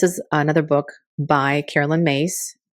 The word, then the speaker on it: Myss: This is another book by Carolyn Myss. It's pronounced Mace, but it's spelled M-Y-S-S.